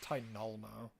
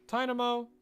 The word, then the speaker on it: Tynamo: No, it's not meant to be like Tynolmo, because there's no L. Tynamo. Tynamo.